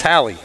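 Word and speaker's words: Halee: Okay, the foul's going to be on number 4, Hallie Clifford. Did I say that right, Hallie? You did. Hallie. It's Hallie. H-A-L-E-E.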